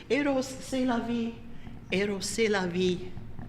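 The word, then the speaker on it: Rrose Sélavy: This particular one he called aeros seav that's not that's not a misprint there double r because you're supposed to pronounce it aeros seavos sex that's life and you know lest you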